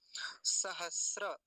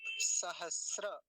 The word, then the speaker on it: सहस्र: वाला केवल इसको देखेंगे सहस्र फिर से देखिए त्रि पंचा शत सहस्र त्रि पंचा शत शत बोलेंगे क्योंकि तका राधा है त्रि पंचा शत सहस्त्र सहस्त्र नहीं बोलेंगे सहस्त्र अभी जब हमारे